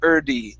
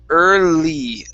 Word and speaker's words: early: okay so your tongue instead of saying early and really pressing and holding that l sound you're saying erdy and it's coming up and hitting and then coming right back down really quick okay so your your tongue needs to stay at the top of your mouth for just a touch longer so it's early lee